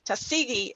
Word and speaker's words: Tuskegee: former mayor of tusk i say it wrong every time i got it i always want to start the tus differently tuskegee alabama when you say i hear it so plainly former macon county commissioner